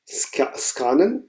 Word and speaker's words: scannen: also German में इसको स्कानन ही पढ़ेंगे, मगर थोड़ा सा अगर इंग्लिश से आप इसको लें तो आप स्कैनन भी कह देते हैं। सो मगर अगर इसको मैं एग्जैक्टली जर्मन में प्रोनाउंस करूँगा तो ये स्कानन बनेगा।